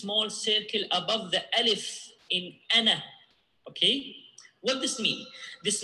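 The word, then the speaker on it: أنا: But if I want to stop on ana, so I will, you know, pronounce the alif here. Okay, so again. Wala ana abidun. Okay, if I want to stop on ana, how I stop? Like this. Wala ana. You see, I pronounce the vowel.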